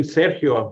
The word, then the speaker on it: Sergio: much Peter and actually thanks for saying my name Sergio right it's not not many times I can find that out you know with from people so thank you for the Accents in the right places so thank you Peter